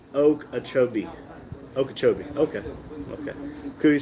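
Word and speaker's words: Okeechobee: Uh, Florida said locals say oak achobee.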